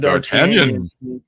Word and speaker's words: D'Artagnan: We got D'Artagnan.